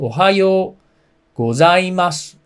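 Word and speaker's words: おはようございます: pronounce this ohio ohio so o is a little low hyo is a little high so ohayo gozaimasu so goes a little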